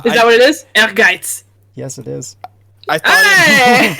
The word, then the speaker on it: Ehrgeiz: Oh, all that comes into my head to pronounce this is just. Ergers! Ease? I'd probably be way wrong too. Guys. That's what most people call it. Yeah. Urges.